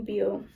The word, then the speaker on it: Beal: The strike began with help from Northern Union organizers Fred, how you pronounce that? Beal.